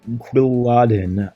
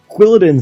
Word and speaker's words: Quilladin: but Inc comes a quadin I I actually don't know how to pronounce this Pokemon I think it's quadin or quadin or yeah quadin sounds quilladin sounds better it's like Paladin plus quill I think anyway very